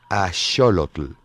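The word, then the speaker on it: axolotl: español es ajolote que el vocablo a sólo clic es nahuel y se pronuncia a sólo tel son comestibles y su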